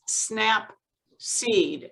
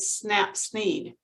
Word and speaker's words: Snapseed: you snap seed yes as in snap peas but snap seed seed yes oh seat